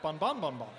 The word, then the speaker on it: Bon Bon Bon Bon: There's like a rise in the middle. It's like bon bon bon bon.